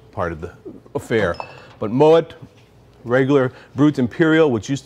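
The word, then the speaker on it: Moët: the time one is Moet Chandon people come and try to pronounce it Mo because it's French actually the name is a German descent so it's Moet much like Piper heik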